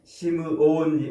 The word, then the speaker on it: 시므온: 부모가 지어준 이름이겠지 응 시므온 원래 발음은 시므온이라고 발음을 해야 돼요 근데 우리 한글 성경에서 언제부터 어떻게 이렇게 시몬이라는 잘 모르겠습니다만 튼 여기저기에서 이렇게 시몬 시몬 이렇게 번역을 해 놨어요